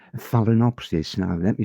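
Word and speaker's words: Phalaenopsis: And there's one type called Phelinopsis. Now, let me spell that for you. It's P H A L A E N O P S I S. A phallinopsis orchid.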